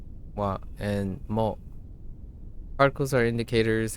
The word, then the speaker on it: は: So in this topic, we're going to learn about two particles, wa, right, pronounced wa, and mo.